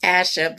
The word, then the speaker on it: Asha: She says her name is pronounced Asha, but I say Asha.